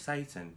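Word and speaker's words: seitan: But Satan. That's what it's called. Satan, but it's spelled S-A-T-A-I-N. Satan. No, it's S-E-I-T-A-N.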